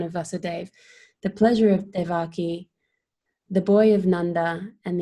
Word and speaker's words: Devaki: Am I pronouncing her name correctly, Yeah, Maharaj? Devaki, yeah, Devaki.